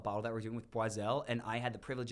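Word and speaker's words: Boizel: champagne house the b-o-i-z-e-l some people say it very German boisel which is hilarious are you going there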